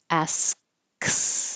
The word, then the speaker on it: asks: Asks. And then I release the airflow when I pull the back of the tongue down, and it goes back up for the S.